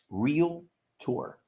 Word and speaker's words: Realtor: in the industry well it's pronounced um real tour okay real tour and the the excuse